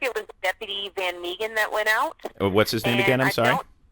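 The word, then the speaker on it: Van Mieghem: It's Van Meegen? Yes. Okay, please spell that.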